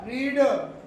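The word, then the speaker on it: read: आप बोलोगे रेड, सामने वाला समझ जाएगा V3 V2 है।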